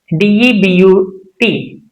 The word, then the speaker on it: debut: D E B U T debut.